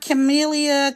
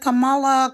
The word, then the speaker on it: Kamala: am voting for kamaa it's not chamelia Kamala CA it's not it's kamaa it's really not that hard so I don't know why people have a problem pronouncing her name I could see if